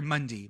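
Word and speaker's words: Munday: love it he's from Monday Texas so he's from out there sorry Mundy my bad everyone I pronounce that I do like the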